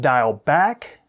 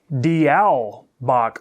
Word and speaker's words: Diawl Bach: i did come across a couple of different pronunciations barriord clark pronounced it dial back and then a lot of people pronounced it dial bach or back so i'm not going